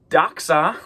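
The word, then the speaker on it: δόξα: And then daxa there you see daxa. It's got that cass that kind of ks kind of sound like an English letter x.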